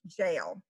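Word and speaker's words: gaol: jail or jail fever g-a-o-l is pronounced jail uh prison fever factory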